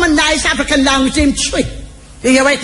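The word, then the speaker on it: Twi: Good African word that come from a nice African language named Tree. You hear what name? Tree. Yeah, man. It's spelled T-W-I, but they pronounce Tree.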